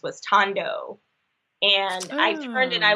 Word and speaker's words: Thandos: si I'm calling like Sandoz but is there really Tondo well yeah the H is silent so ah it's a